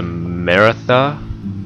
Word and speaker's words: Maratha: And what I was thinking was Sweden, United Provinces, Austria, the Maratha, I believe that's how you pronounce it, Confederacy.